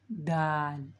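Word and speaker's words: دال: When the tip of the tongue touch the upper 2 incisors, upper, with the gum line, Dal is pronounced Dal.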